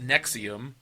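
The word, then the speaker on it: NXIVM: Keith Rainier leader of the NX IVM pronounced nexium gravity stars Matt played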